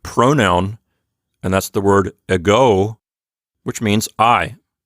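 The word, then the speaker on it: ἐγώ: has a big ego this Greek word has its Accent on the second syllable so it sounds like a go and this is one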